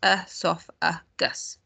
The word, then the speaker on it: esophagus: via a tube called the esophagus pronounced earth off a gus i wish they had